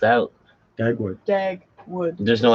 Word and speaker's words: Dagwood: Oh yeah, A big Daglowood. old beast. It's the Daglowood. whole thing. Oh yeah, Dagwood? That's how it's spelled out. Dagwood.